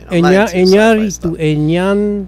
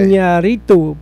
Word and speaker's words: Iñárritu: Iñárritu, Iñárritu. Alejandro Iñárritu. Well, there's an Enya there. Oh, is there? Okay. Iñárritu.